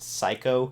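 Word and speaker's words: Seiko: SE I KO but it's pronounced psycho in the show tokas of stuff is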